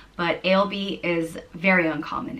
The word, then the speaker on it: Ailbe: intelligent or noble, and is pronounced Ailbe, or Ailbe, Ailbe.